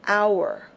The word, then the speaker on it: hour: pronunciation in this word the H is not pronounced therefore it begins with the OU hour in fact this word